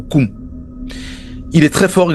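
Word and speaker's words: Nkoum: Alors ça s'écrit N-Ganga ou N-Koum, mais ça se prononce Ganga ou Koum.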